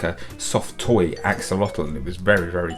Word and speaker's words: axolotl: a year ago and it's something called an axolotl um Axolotl isn't that a funny word and look how it's spelled a-x-o-l-o-t-l what a funny little word so